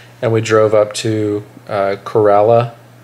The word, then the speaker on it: Corolla: we drove up to Corolla and that's how you say it right no Kerala Kerala Kerala and um we went